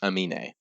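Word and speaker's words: Aminé: Amin.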